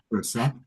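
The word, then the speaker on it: Charissa: So here's her website, and like Adam Apollo, it's her name, Carissa Sims, spelled the H is silent, Yeah, Carissa, Carissa I can put Sims it in the at chat.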